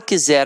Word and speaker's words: quiser: o pa Olha o quiser aqui é óbvio que o camarada botão Z porque a pronúncia é com z mas o quiser galera é com s Então aqui tem um